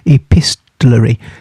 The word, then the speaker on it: epistolary: Epistolary. Now I'm going to spell that for you.